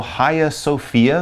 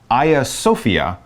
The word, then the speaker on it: Hagia Sophia: I believe the Turkish is a little bit more Hagia Sophia, but either way, don't say the H-A-G. It's not pronounced that way. It comes more from the Greek or Turkish pronunciation. So Hagia Sophia in Turkey.